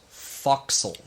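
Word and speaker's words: forecastle: Foxhole Foxhole it's actually it's actually spelled for Castle but it's pronounced foxel these people were English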